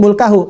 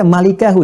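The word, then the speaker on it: مُلْكَهُ: Orang-orang dulu bacanya mulkahu, orang sekarang ada yang baca malikahu. Dari mana jadi malika? Jadi ya itu ada terlalu memaksakan gitu pembacaan sehingga keluar bergeser dari konteksnya.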